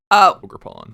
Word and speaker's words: Ogerpon: Ogerpon.